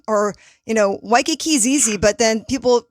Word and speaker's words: Waikiki: kamehameha you know they're like or you know waikiki is easy but then people pronounce it waikai kai or we have a highway that's like leaky